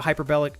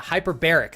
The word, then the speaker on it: hyperbaric: You can do a hyperbolic hyperbol I always say it wrong. Hyperbolic, right? Is it hyperbolic? Yeah, hyperbaric. There we go.